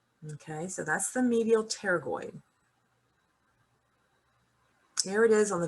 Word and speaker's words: pterygoid: you so lp here lateral pterygoid p is silent all right look at